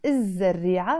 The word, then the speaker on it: الزريعة: Again, because the word starts with the Z sound, and all the words in Arabic that start with the Z sound, the Zain, we don't pronounce the L before them.